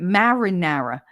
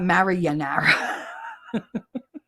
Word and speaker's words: marinara: No, that's not how you say it. Marinara. Marinara. Not Maranara.